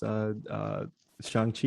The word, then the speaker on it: Shang-Chi: Like there's a whole scene where he's just like Chang, like right. Say it right.